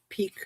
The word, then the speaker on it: Pique: Fung's line of teas, Pique, pronounced peak.